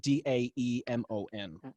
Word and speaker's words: daemon: word demon but it's it's spelled d-a-e-m-o-n right i thought so yep and sometimes it's pronounced daemon yes to just distinguish these terms but they ultimately are